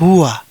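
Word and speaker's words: هو: Dari apa yang telah kita pelajari, ini dibaca sebagai "hua", oke. Hu wa hua, artinya dia adalah seorang pria, kan.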